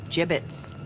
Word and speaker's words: gibbets: all right Hey look Avery had some gibbets left over gibbets what it's pronounced gibbets are you sure yeah well no one likes